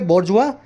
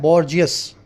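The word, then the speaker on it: bourgeois: है ओ आई S spelling लिख के देखो ये बोलोगे बजुआ लिखा जाता है बर्जियस बजवा का मतलब क्या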